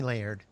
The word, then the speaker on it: Laird: is my husband Laird layered like lasagna lasagna no layered layers are you saying that right yeah one syllable layered okay just call me Laird I can't so should